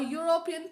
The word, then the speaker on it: European: Next is a European tourist. Here E is a vowel but the word is like the sound of the consonant Y.